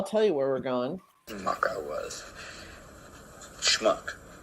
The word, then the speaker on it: schmuck: Schmuck I was. Schmuck. It's not smuck. It's schmuck. Smuck. Schmuck. Smuck. Now say shh. Shh. Now say muck. Muck. Now say shh and muck together real fast.